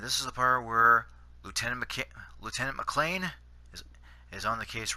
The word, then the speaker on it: lieutenant: lieutenant, like such as the French pronounce it lieutenant. I think they do anyways. Americans pronounce it lieutenant, as they do, and us Canadians pronounce it lieutenant. Yeah, I know it's a little off, but that's how the way that we pronounce it.